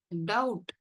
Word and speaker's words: doubt: Doubt. B silent.